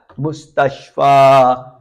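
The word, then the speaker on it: مستشفى: Mustacha. Something unique about this word mustach there is a yab which is not pronounced.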